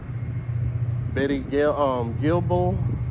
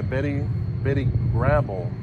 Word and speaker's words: Betty Grable: You also get to see Jean Harlow, Betty Gilbel, if I pronounced her name right. Yeah, Betty Grable. My fault is Betty Grable.